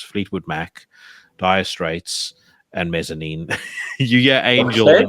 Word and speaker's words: Mezzanine: The album that I listened, I don't know how to pronounce that either, but that's like Mezzanine. Is that how you pronounce it?